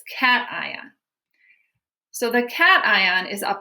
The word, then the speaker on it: cation: a cation everybody say cation cation cation it sounds like the word cat it looks like patient but it's cation so the cation is